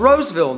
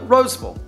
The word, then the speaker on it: Rolesville: Next up, we have the suburb of Roseville, North Carolina. Yes, it's spelled Rolesville, but all of us locals call it Roseville, so be prepared.